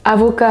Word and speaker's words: avocat: lettres muettes en français, on ne prononce pas le "t" et bien sûr, on ne prononce pas le "s" Si on prononce "avocat" avec le "t" à